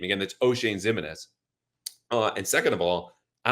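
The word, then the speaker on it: Oshane Ximines: of all, none of us knew how to pronounce his name. Again, that's O'Shane Ximines.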